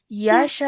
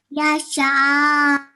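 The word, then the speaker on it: يشاء: Okay, so we're stretching the sha for at least 4 seconds and then joining the hamza sakin. Okay, so please repeat after me. Yasha. Yasha.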